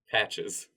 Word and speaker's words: Patches: Patches. Oh, is that how you pronounce it?